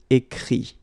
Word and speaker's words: écrit: Écrire, to write, will become écrit. Okay? Remember that phonetically this final T doesn't exist.